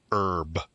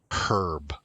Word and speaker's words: herb: That word herb, that's the American pronunciation, but you probably learned it as herb.